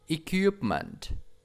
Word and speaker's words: equipment: Equipment, equipment, equipment. Don't forget P sounds. P. Equipment. And Chang Tiet B.